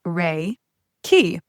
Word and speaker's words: Reiki: So, first degree Reiki training. Reiki, pronounced ray key, is a common Japanese word which Dr.